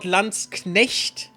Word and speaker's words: Landsknecht: That is also how every native English speaker pronounces that. Not Landsknecht, because Knechte, you know, that's a German word. They always say Landsknecht or something bullshitty like that, because they can't say the CH for some reason.